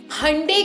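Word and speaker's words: Hyundai: एंड अब मैं अपनी कार को हुंडई कार नहीं बोलूँगी, अब मैं हंडे कार बोलूँगी, जो उसका रियल प्रोनाउंसिएशन है।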